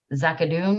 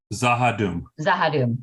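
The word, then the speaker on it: Z'ha'dum: And they are the people that they encountered over at, is it Zakadoon or how do you say that again? Zakadoon? Zahadum, no CH.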